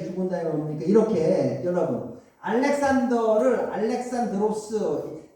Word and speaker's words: 알렉산드로스: 자 알렉산더 대왕이 갑자기 죽은다고 그러니까 이렇게 여러분 알렉산더를 알렉산드로스 그리스식으로는 발음이 알렉산드로스예요. 하여튼간 영어식 발음은 알렉산더. 그래서 알렉산더 제국이 뭡니까?